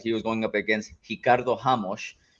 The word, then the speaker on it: Ricardo Ramos: He was going up against Ricardo Ramos, which also, you like that pronunciation? Portuguese.